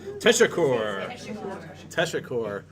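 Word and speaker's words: teşekkür: a ooh so T tesur tesur um our tour guide said pronounce it like tea sugar yeah you know sugar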